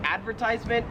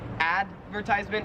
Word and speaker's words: advertisement: pronounced cordal 31 is advertisement and the difference is like stress so in American English we would say advertisement advertisement and in Australian